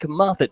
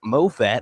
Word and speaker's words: Moffatt: the plate Mike Moffet you may know him as Mike Moffat if you read things phonetically spelled mo FF ATT but I guess the ATT makes a nice sound grounder to third on